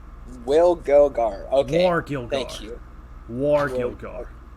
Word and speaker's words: Wargilgar: how do you pronounce his name? Wargilgar. Wargilgar.